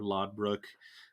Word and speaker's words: Lothbrok: the great tale of ragnar lothbrok or laud brook depending on you know how it's pronounced cool and you know